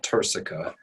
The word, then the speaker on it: turcica: to highlight it's called the cella turcica it's pronounced tursica t-u-r-c-i-c-a that produces almost like this horse saddle